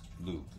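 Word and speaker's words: Lugh: um and then there's lug uh l u g l Luke um yes it's not a lug nut l l um which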